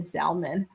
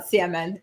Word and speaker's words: salmon: I struggled to not pronounce the L in salmon uh salmon because I grew up pronouncing the L.